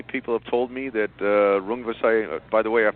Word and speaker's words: Rungvisai: One of your other fighters, Roman Gonzalez has what I think is a difficult fight on the undercard against Swiskatet Sor Rungvisai as a Thai fighter, and he had a very difficult and competitive match with Carlos Cuadras, who's also on the undercard.